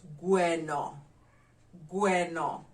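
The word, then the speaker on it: gweno: or cook or whatever we call it bueno how do we spell it g-u-e-n-o g-u-e-n-o bueno the number six cat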